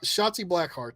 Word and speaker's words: Shotzi Blackheart: Shotzi Blackheart, that's right.